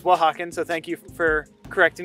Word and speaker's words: Oaxacan: i realized i was mispronouncing it i was pronouncing it o'haken and apparently it's wahawkin so thank you for correcting me on correcting